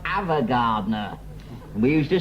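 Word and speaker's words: Ava Gardner: Evergardner. It's pronounced Avagardner.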